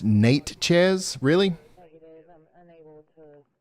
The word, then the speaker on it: Natchez: New location for Hall Force 1, Carly, is going to be Natchez, Natchez, Mississippi.